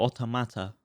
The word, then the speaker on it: Automata: but He's a cool boss, but yeah, Nier Automata for you is, or Automata is how you say it.